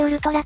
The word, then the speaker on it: ウルトラ: まずはこちら、究極と書いてウルトラと読む、すべてを